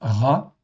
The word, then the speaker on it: רע: OK, donc là nous avons un rche ain, ça se prononce ra.